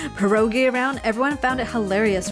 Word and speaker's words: pierogi: Pierogi. Pierogi? Okay. Can we hear this? I don't hear it. Learn to pronounce. Why can't I hear it? Oh. Pierogi.